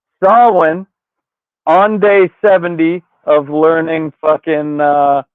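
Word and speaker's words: Samhain: They're trying to unleash Sam Hayne, which it's pronounced Sawin on day 70 of learning uh Gaelic on this side.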